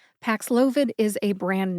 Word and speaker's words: Paxlovid: Pax loid Pax loid Pax loid treats covid again if you say it fast it sounds like PID there you go let's